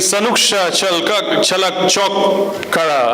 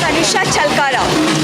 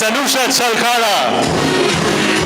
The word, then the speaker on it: Sanusha Chalkara: Okay, what's the real one? Sanusha Chalkara. Okay, okay. It's Sanusha Chalkara.